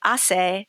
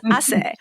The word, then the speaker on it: hace: where they figure out that hace is not hace sal, right? That it's hace and that H is silent and all that.